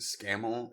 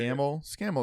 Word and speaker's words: Scamal: Yes, I think Scaml is how they say it. Scaml Scaml is right.